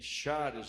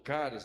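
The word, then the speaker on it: χάρις: A palavra graça, ela tem origem em charis ou caris, dependendo de como você quer pronunciar o grego, que era, sabe o quê?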